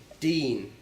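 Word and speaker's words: دين: is the word for religion in Arabic is deen, That's D-I-N or D-E-E-N, however you want to spell it.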